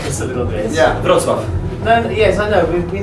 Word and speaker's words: Wrocław: Wrocław. Wrocław. Wrocław. Okay. Probably not. Somebody told me wrong. Maybe I will. You might help us a little bit. Yeah. Wrocław.